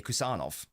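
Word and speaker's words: Khusanov: I think in other countries in Central Asia, they would pronounce it as Husanov. But they are both correct. I like how the Uzbek pronunciation is, so I say Kusanov.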